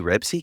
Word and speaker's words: Ribisi: He's I said Ribisi, isn't he? Not alright, my Ribsy.